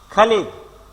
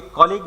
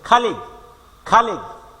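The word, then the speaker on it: colleague: খালিগ, এটাকে অনেকে কলিগ বলে, উচ্চারণ খালিগ, সহকর্মী, co-worker মানে হলো সহকর্মী।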